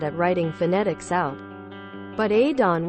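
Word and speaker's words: Odhrán: But Adon with a soft D, leaning towards TH, and a long, deep, round in from the fada, accent mark on the second with the emphasis on the second part. Don. Sometimes the ow leans toward ee, but he'll want it more I, or a. It's the Gaeilge, relative to Aiden in the English.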